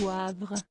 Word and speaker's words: Wavre: C'était il y a 37 ans presque jour pour jour qu'un couple de femmes habitant à Wavre, prononcé Wavre, en Belgique se suicidait.